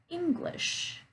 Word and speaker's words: English: Lit, lit, salad, salad, or English, English. Okay, again, I'm stressing on that first syllable, English.